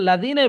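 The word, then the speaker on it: الذين: হ্যাঁ দাল এখানে জাল আছে তাহলে কি করতে হবে? সিরাতুল লাজিনাই বলতে হবে।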